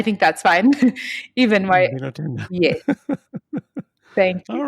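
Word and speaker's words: Ndinotenda: I've heard Waita Zvako and I've heard Ndio Ntenda. Yes, Ndino Tenda is what I would say. Or, yeah, I think that's fine. Even my, Ndino Tenda.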